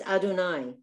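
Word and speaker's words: אֲדֹנָי: yod yeah it's confusing you're not supposed to pronounce the two units it's adonai so if it were written out good comment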